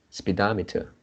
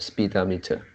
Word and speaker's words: speedometer: one yeah no second so we shouldn't pronounce like speedometer so the the the first syllable should be lecture speedometer instead of speed diameter if i pronounce ah